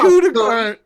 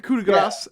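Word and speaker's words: coup de grâce: It's not coup de grace. I'm sorry, Daryl. In our Wednesday game, we had an argument how to pronounce coup de grace, and and then hilarity ensued.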